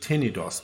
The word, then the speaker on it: Tenedos: However, it is pronounced Tenedos.